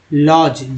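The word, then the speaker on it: lodge: लॉज, D silent है।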